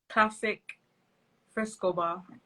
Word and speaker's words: Klassik Frescobar: Klassik Frescobar. The Am I Gallum saying it right? Star. Am I saying it Yeah. right? Yeah, classic Frescobar, the How did, Gallum Star.